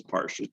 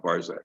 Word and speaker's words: Parsh: And he said, oh yes, it's Parsh, it's not Barzak. So it's spelled with an SH on it.